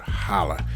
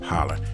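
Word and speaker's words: challah: bread right there look that's called holla i hope i'm pronouncing it right you know what i mean it's spelled like chala but i think it's pronounced holler that's it now you want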